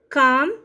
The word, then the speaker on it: calm: Silent L, calm. CALM, calm. CLAM, calm.